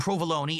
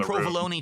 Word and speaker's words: provolone: It's not provalone. It's not minestronei.